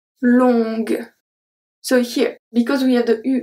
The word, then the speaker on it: longue: Longue. Longue. So here, because we have the U and the E that we don't pronounce, the only letter that I pronounce is G.